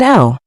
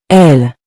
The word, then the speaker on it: elles: There are 2 ways to say it, il and elle. Remember, in spoken French, the S is usually silent unless followed by a vowel.